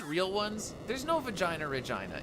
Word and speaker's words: Regina: Regina, experience Regina. Regina, experience Regina. The city that rhymes with fun.